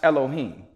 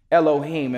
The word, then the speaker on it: Elohim: and the word for God here would be pronounced Elohim Elohim and for my bible thumpers in here you